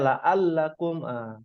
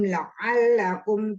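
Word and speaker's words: لَعَلَّكُمْ: Tadi sempat dibacanya la'allakum. Dengan A beda. Diulang mungkin. Summa ba'asnakum min ba'di mautikum la'allakum tashkurun. Masya Allah ya. Ainnya nih bagus ini, huruf ainnya.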